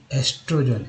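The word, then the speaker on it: estrogen: The female sex hormone is एस्ट्रोजन, एस्ट्रोजेन, ई एन के पहले जी लगा तो जेन हो गया, एस्ट्रोजन, एस्ट्रोजेन।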